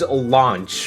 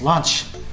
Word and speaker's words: Launch: a subtle mention towards launch from the original Dragon Ball. I haven't eaten this well since lunch. Actually, it's pronounced Launch Vegeta.